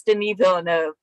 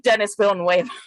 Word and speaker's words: Denis Villeneuve: It's very francophone. It's Denis Villeneuve, but I like Dennis Villeneuve.